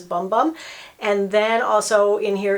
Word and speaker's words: Bum Bum: i've heard people say boom boom but for me it's pronounced it looks like it says bum bum and then also in